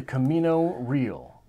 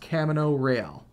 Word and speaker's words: Camino Real: looks like Camino Real I think it's actually supposed to be pronounced Camino rail but something in the back of my mind said something's weird here look it up and